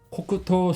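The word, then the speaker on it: 黒糖: 그래서 이 한자가 서로 합쳐져서 코크, 그 다음에 토라고 읽어서 흑설탕 또는 흑당이라는 단어가 됩니다. 그 다음에 소라마메는 누에콩을 말합니다. 그래서 코크토 소라마메 하면 누에콩을 흑당에 코팅한 요리라고 합니다. 한번 읽어볼까요? 코쿠토 소라마메.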